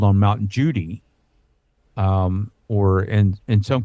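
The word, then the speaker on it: Judi: they called on Mount Judy um or in in some cases is pronounced Mount cudy depending on what language you're speaking they can't pronounce the J so they pronounce it with a c sometimes but um this is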